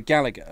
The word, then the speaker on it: Gallagher: okay I'd always say Gallagher yeah that's the English Way that's the Oasis way yes Britpop band and like his Booker T on commentary said Gallagher and I was like oh man Booker T said it right and I saw those